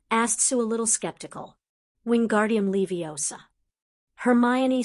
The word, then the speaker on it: Wingardium Leviosa: Wingardium Leviosa. Hermione said dryly. He actually got the pronunciation right.